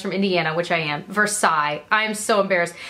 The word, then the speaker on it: Versailles: There's a town in Indiana, and it's pronounced, the way that it is just pronounced here is Versailles, actually. And it's spelled like Versailles, because obviously that's what it's named after. And so now I'm embarrassed that I just said it the Indiana way.